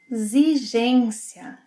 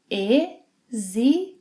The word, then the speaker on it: exigência: Exigência. Exigência. Exigência. Now the letter X, whenever it is after E and before another vowel, will have a Z sound. Exigência.